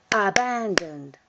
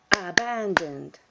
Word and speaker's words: abandoned: to pronounce the past abandoned abandoned abandoned notice that the past of abandon is abandoned three syllables and with a little sound at the end abandon abandoned and what